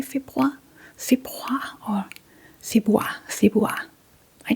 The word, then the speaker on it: februar: We don't actually pronounce the R.